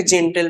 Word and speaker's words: genteel: এই জেন্টেল করে দেবে, কিন্তু জেন্টেল না, এটা জেন্টিল, GENTEEL।